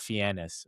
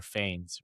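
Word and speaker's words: Fiennes: Ralph Fannis or Fains, one or the other. Oh, Ralph Fiends the British, right?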